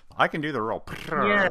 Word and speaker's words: Pittard: Yeah, it's Pittard. It's technically like French origin. So if you really want to go fancy, then you can put a bit of a French accent on it, but it's fine.